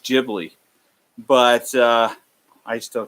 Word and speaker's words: Ghibli: you got to look that up studio it's pronounced Ghibli but I still call it Ghibli because it's more accepted and makes more sense